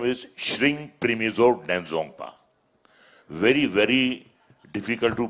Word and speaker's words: Denzongpa: His name is Shring Primizo Denzongpa. Very, very difficult to pronounce.